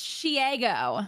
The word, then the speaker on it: Shego: It's Shego, like Diego.